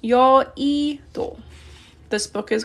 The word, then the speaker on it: 여의도: 여의도 is an island in Korea, and it's pronounced 여의도.